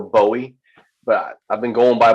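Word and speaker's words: Boë: It's an umlaut, and so it makes it sort of pronounced more like Zoe. So it's more Bowie. But I've been going by Bo for so long, I kind of forgot they were there myself.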